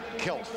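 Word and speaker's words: Kecalf: Spelled K-E-C-A-L-F and pronounced Kelf as if the C is not there.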